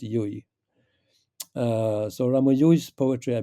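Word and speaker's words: Llull: Uh his family name is like L Ul, but it's pronounced Yui.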